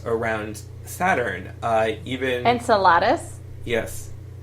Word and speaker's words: Enceladus: Saturn even Enceladus yes is that like a salad and how do you how do you say it insult enceladus I'm sorry I've never said that out loud before I am in Saladin right anyway but but